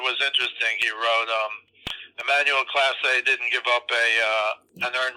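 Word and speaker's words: Clase: The Emmanuel Class A guy is Class A, right? Is that how you pronounce it? Yep. He's the best reliever in baseball, period.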